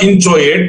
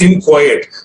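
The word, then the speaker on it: inchoate: okay what is an inco it's not inate it's in quiet the ch is pronounced ka inco is an instrument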